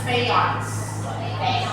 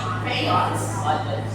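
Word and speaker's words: Fajans: The pronunciation is Fayon's. Fayon's. Hindi na quadrants, okay? It's Fayon's. Fayon's.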